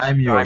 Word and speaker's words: daimyo: Daimyo.